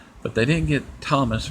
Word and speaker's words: Tomas: They instead of saying Thomas, they say Tomas, which I'll let that slide because it's kind of hard to pronounce. It's probably hard to pronounce it, and stuff. But it's actually Thomas.